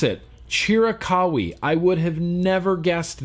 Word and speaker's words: Chiricahua: Chiricahui. That's how you pronounce it. Chiricahua.